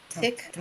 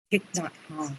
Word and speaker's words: Thich Nhat Hanh: Not Thich Tot. Nhat Hanh. Thich Nhat Hanh.